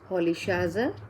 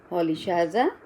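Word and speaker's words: Rolihlahla: Basically, Nelson Mandela was from a tribe of Xhosa speakers.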